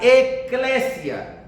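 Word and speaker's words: ἐκκλησία: La palabra iglesia es una palabra griega que viene de un vocablo que se pronuncia eclesia.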